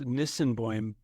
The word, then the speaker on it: Nisenboim: It's first of all, it's Nisenboim, but Effiji Breathwork. Yeah. Effiji is how you pronounce it.